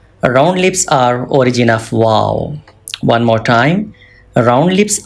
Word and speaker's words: و: Some people read wa. Wa is wrong pronunciation. Please do not read wa. Wa is absolutely wrong. You must read as wow.